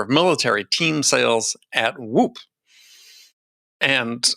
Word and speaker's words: WHOOP: military team sales at woop and i don't think i had to say it like whoop but you just have to say it like that and chris and robert are